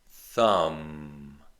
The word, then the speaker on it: thumb: The B is silent. Comb. Lamb. Thumb.